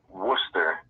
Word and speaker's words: Worcester: I have, and that would be Worcester. One town over, right? One state over, Worcester, Massachusetts. Mm-hmm. It's spelled Worcester.